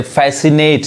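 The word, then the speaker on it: fascinate: सी आ रहा है, इसलिए सी साइलेंट होगा। जैसे फैसिनेट, इसका मतलब क्या होता है, मोहित करना, यानी मन को मोह लेना, उसको बोलते हैं फैसिनेट।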